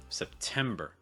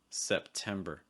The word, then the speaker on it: September: Key thing here, stress second syllable. Tem, that S sound again, where you're really raising your tongue high. Also note that first syllable, Septem. Don't make the first syllable too strong, but it's not as much of a schwa as it is a quick like S sound.